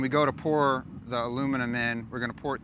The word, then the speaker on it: aluminum: The official pronunciation is aluminum. Aluminum. All right. I'll say aluminium just for the few.